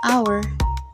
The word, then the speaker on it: hour: For example, the word our start with the letter H, but the H is silent. So, the word actually begin with the vowel sound A. That's why we say an hour, not a hour.